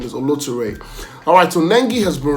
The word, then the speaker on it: Oloture: on the movie Oloture, which most of you pronounce as Oloture, but the real pronunciation is Oloture.